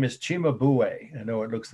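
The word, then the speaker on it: Cimabue: virgin and child enthroned again one more time it's spelled e-n-d-h-r-o-n-e-d the artist's name is chima buway i know it looks like sima view that's how they'd say in indiana the italian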